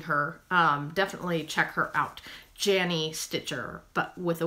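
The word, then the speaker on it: Yany: Jenny Stitcher. If you're not watching her, you need to be watching her. It's spelled Y-A-N-Y Stitcher.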